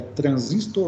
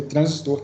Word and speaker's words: transistor: A pronúncia certa é transistor ou é transistor? Eu acho que se a gente fosse pronunciar em português mesmo, seria transistor, né? Transistor, porque a gente, da mesma forma que a gente fala resistor, a gente não fala